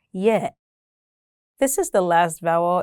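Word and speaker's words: ي: Now let's see the next letter, Ya. This is the last vowel in the Arabic alphabet. It's pronounced just like the sound E in the word tin.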